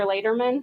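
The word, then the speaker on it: Leyderman: pronounce your name for us please yes Dr Lederman okay l-e-y-d-e-r-m-a-n first name is pronounced oh the free the free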